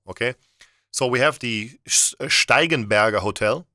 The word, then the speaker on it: Steigenberger: so we have the steigenberger hotel that's how you pronounce it in German okay stegenberger stigenberger in